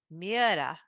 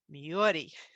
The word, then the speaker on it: Myhre: present pronounce this name so this is norwegian and when i've talked to my scandinavian friends they've said it's pronounced miera or miyori in the united kingdom i've listened to people pronounce it myra and in the united